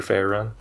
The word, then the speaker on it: Farron: Farron or Farron?